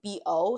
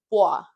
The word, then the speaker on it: Bois: He says his name is it's spelled B-O, so like my brain was like Bo, but it's Bois.